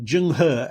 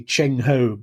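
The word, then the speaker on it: Zheng He: The famous uh the admiral Jungh as he's now pronounced used to be Chenho, but uh but you know, we now transcribe Chinese differently.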